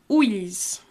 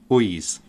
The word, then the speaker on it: ulls: It's like a more of an L-ish sound, the l and the y together.